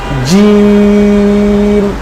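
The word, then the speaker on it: جيم: একটু মোটা করে উচ্চারণটা বলতে হবে। কেমন? যেমন আমাদের যদি কেউ ডাকে নাম ধরে যে আব্দুল্লাহ। আব্দুল্লাহ কই তুমি? আমরা কি বলি? তুমি জি আছি। জি। ঠিক এই টাইপের মোটা হবে জিম বলেন জি জি জি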